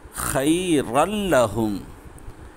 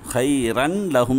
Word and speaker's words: خيرا لهم: வலவ் அன்னஹும் காலு காலு சமிஅனா சமிஅனா வ அதஅனா வ அதஅனா வஸ்மஅ வஸ்மஅ வந்துர்னா வந்துர்னா வந்துர்னா லகான ஹைரல் லஹும் ஹைரல் லஹும் ஹைரன் லஹும் சொல்லக்கூடாது.